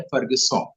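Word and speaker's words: Fergusson: फर्ग्यूसन के बारे में थोड़ा सा जानते होंगे हम लोग कि पुणे में उनका नाम पर कॉलेज है, लेकिन उसका फ्रेंच उच्चारण है फर्गसॉन।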